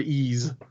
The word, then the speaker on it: Ys: I think so, it's technically like ice, I think it's pronounced like the word ease. So like ease, like ease it down, David.